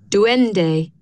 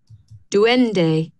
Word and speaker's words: duende: Duende. Duende.